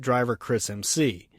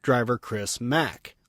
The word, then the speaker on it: Driver Chris Mc: His name is not Driver Chris MC. It's pronounced Driver Chris Mac, like his last name, McFadden.